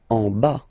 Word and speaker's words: en bas: En bas. Final S not pronounced. En bas.